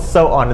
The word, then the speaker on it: Samhain: The holiday was called So-on. It's pronounced many different ways, but the Celtic holiday was called So-on.